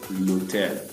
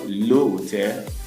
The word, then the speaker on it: hôtel: Hôtel here is a word that begins with a silent H. Our saying l'article défini becomes L apostrophe l'hôtel. Not le hôtel, not an hôtel, not des hôtels, becomes l'hôtel.